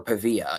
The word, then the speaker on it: Pavia: And I think, he can make it in the CFL, just like our next boy, Diego Pavia, or Pavia, if you want to spell it correctly, or say it correctly.